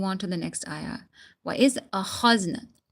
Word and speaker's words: وَإِذْ أَخَذْنَا: وَإِذْ أَخَذْنَا kha. Okay, you need to take it out from your throat.